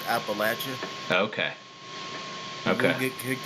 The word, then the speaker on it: Appalachia: And by the way, it is pronounced Appalachia.